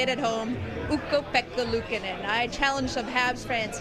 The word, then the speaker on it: Ukko-Pekka Luukkonen: Ukko-Pekka Luukkonen. Everyone, you can say it at home. Ukko-Pekka Luukkonen.